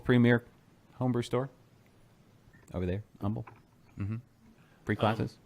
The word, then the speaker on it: Humble: homebrew store over there humble mm-hmm free classes humble humble humble you can't pronounce the age don't pronounce the H and don't do a